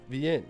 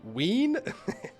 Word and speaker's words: Wien: Don't it say V, or actually W-I-E-N? What are you saying? I'm saying it wrong or something? Or say Wien? Wien? Okay, we'll say Wien.